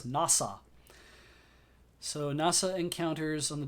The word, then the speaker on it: Nasa: The story follows a protagonist whose name is written with the characters for Hoshizora, starry sky in Japanese, but whose name is pronounced as Nasa.